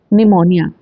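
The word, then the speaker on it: pneumonia: निमोनिया। Spelling को ध्यान से पढ़ें। निमोनिया में भी साइलेंट है।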